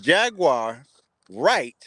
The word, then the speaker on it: Jaguar Wright: doing something so I question Gene deal now Jaguar right I said it right that time she looks